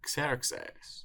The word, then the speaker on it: Ξέρξης: It's Xerxes or Xerxes, king of kings of the Achaemenid Empire.